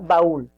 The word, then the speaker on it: baúl: Y te das cuenta que la mayor fuerza de voz es en ul, en la segunda sílaba.